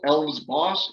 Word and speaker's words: Alves-Foss: Alves-Foss if you want to pronounce the multiple syllables. It is a two-syllable last name. I tell people think of Santa Claus, Alves-Foss. It rhymes with that.